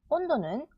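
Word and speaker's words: 温度: 한자는 가은지 칸지 칸지 음치는 오은지 온치 온지 온도는 오 은도 온도 온도 안내는 아 은나이 안나이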